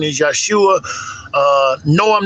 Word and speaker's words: Yeshua: Correct pronunciation is Yeshua.